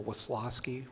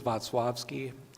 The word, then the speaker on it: Wacławski: My family pronounces the C like an S, so Wisławski, kind of like coleslaw. The Polish is Wacławski.